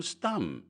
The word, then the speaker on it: Stumm: "Why, it's Colonel Stumm," he cried. He pronounced it like the first syllable in stomach.